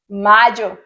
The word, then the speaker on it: mayo: Enero, January, Febrero, February, Marzo, March, Abril, April, Mayo, May. May in Spanish, you're gonna replace the Y with a J, so you have the correct pronunciation in Spanish.